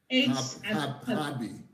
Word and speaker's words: Harbie: It's spelled with an H. HARBIE. Yeah, like Harb.